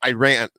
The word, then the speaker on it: Iran: The reason why it's because the beginning, the reporter basically, he said it's not pronounced Iran, it's pronounced Iran.